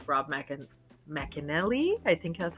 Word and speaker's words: McElhenney: I like Rob McEnelly. I think that's how you say his name. McElhenney, right?